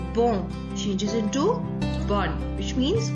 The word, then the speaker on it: bon: I'll repeat again that these consonants, the S added at the end of the plural form of the adjectives is silent. We will not pronounce this S. That is why the plural form also remains same in pronunciation with the singular form.